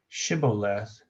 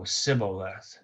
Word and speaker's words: shibboleth: less but he said shibboleth for he could not pronounce it correctly oh sybillath instead of the he didn't put the H Then They seized him